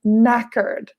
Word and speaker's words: knackered: british expression very tired be careful the K is not pronounced we say I'm knackered so this is an